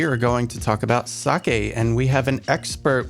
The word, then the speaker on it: sake: first am I saying it properly is it sake because I've heard people say like Saki and like something that you would throw into